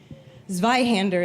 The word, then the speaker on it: Zweihander: Zweihander is how that's pronounced. It's German.